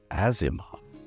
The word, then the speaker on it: Aasimar: And sure enough, you can pronounce it with a hard A sound. But in the realms, most people call it an Aasimar. It's an Aasimar who, after years of